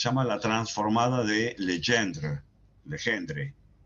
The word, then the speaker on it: Legendre: Legendre, creo que se debe pronunciar.